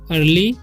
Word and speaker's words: early: और EARLY है तो अर्ली इसे पढ़ते हैं, अर्ली, ठीक है। ई का उच्चारण यहाँ पर नहीं होता है।